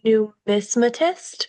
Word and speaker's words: numismatist: I'm definitely going to pronounce that correctly. Numismatist, is that correct?